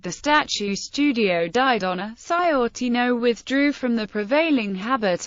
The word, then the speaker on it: Sciortino: Asked how to say his name, he told the Literary Digest it was Sciortino.